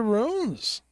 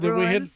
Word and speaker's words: runes: for Spirit using the runes? Okay, so, folks, it's spelled R-U-N-E-S. It rhymes with tunes. It's spelled like tunes. Okay? It's not ruins. Did we hit a nerve there? Yes, they are not ruins.